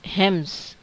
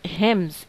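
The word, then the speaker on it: hymns: शी rot religious songs हिम्स। Pronunciation of this word is हिम्स, एन as silent hair बेटा, ठीक है। ये एन जो है ये साइलेंट होगा यहाँ पे, इसे पढ़ेंगे हिम्स।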